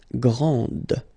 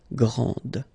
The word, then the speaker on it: grande: Okay, so grand, and then the feminine form, grande. Okay, so you put this E, and then you get the sound D, D, grande.